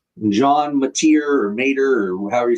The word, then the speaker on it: Mateer: I think it's Mater. Mater, like the truck from Cars.